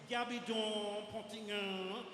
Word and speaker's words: Gabidon Pontignan: It's French. She doesn't think it's French, but that's how you pronounce it. Gabidon Pontignan, right?